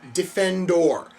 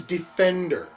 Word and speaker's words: Defendor: now they mentioned earlier he gets really pissy if you don't pronounce his superhero name correctly it he very very and you even see it he gets very defensive if you do not pronounce it defendor he just said it as Defender I found a plot